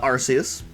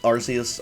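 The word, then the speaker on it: Arceus: archus with one hit I don't know how y'all pronounce that arus archus maybe if you're real stupid you say arus cuz that's dumb but um I kind of I sort of alternate between arus and archus so here we've got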